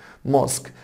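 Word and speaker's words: mosque: عندنا كلمه ماسك، ماسك طبعا اليو والاي هنا سايلنت حبايبي مش بنطقهم.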